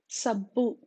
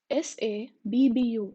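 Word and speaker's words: సబ్బు: Sir, S-A, sir, sabbu, S-A-B-B-U, sabbu, which is a soap. And this this is pronounced using the tip of the tongue touching your lower teeth.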